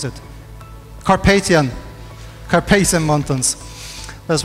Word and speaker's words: Carpathian: aspirations that you have from the kasparian now Casper casperian mountains how do you pronounce it Carpathian carpesian mountains that's right the sprawl of objects